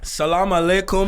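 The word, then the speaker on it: سلام عليكم: How do you say it? Salam alaikum, alaikum.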